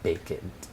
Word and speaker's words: Baked: This place is called Baked, however locals pronounce it as Baked. Baked like naked. bake it.